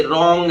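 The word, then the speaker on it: wrong: यदि R आ जाए, इफ W is followed by R then W is silent. यदि W के तुरंत बाद R आ रहा हो तो W ऐसी स्थिति में साइलेंट रहता है। जैसे रॉन्ग है, रिस्ट है, और भी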